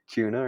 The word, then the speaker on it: Kuna: I don't know how to pronounce. I kept saying it wrong, and Even now, can you say it? Kuna, right? Yeah, Okay, Kuna.